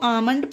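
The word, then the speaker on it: almond: डी आमंड इसे देखिए एम से पहले एल है तो आमंड पढ़ा गया अब ये सारे रूल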